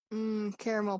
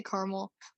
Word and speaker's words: caramel: you have the three you have the three syllables i am a caramel i'm a two syllable you say caramel well i say like can i have a um oh no i do say with three syllables i think because if i was ordering a drink like a coffee i think i would say caramel like caramel macchiato oh no let's see